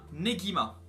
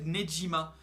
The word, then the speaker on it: Negima: Vous avez vu, j'ai prononcé Negima parce que dans la première vidéo j'avais prononcé Nejima. Et il y en a un qui m'a dit dans le commentaire, non c'est pas Nejima, c'est Negima.